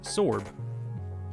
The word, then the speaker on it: zorb: Common, we have the zorb pronounced sorb and wh the sorb.